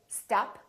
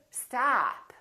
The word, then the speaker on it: stop: So don't say stop, say stop, stop.